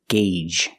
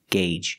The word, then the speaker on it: gauge: diesel very good and remember the word gauge it's pronounced with a long a sound it's spelled Au U but it has a different pronunciation use the long a guge gauge and it's countable so